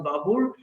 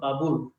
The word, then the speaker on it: বাবুর: তোমরা স্লাইডে, জহিরুদ্দিন মোহাম্মদ বাবুর। আচ্ছা, ইতিহাসে তার নামটা বাবর নামে বেশি পরিচিত হলেও তার অ্যাকচুয়াল যে উচ্চারণ সেই উচ্চারণটা হচ্ছে বাবুর।